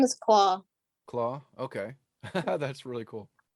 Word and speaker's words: Clau: is the main character's name her name is claw claw okay that's really cool it's it's short for called it that's why it's spelled the way it is oh okay i